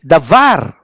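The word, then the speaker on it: דבר: Here, davar. No? Notice the bet there, davar. No? Davar. Not davar, but davar, because last syllable.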